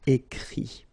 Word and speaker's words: écrit: Remember that even if you've got this final T, you don't pronounce it, so it goes like écrit, okay.